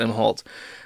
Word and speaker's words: Imholte: Central Standard Time arada and his wife and April MH halt as I've discovered his name is pronounced MH halt uh were arrested for uh two different charges